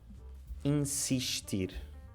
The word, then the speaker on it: insistir: Tipo, insistir. Aqui temos 2 S, mas in-si. Portanto, N-S-I, consoante S vogal, fica in-si.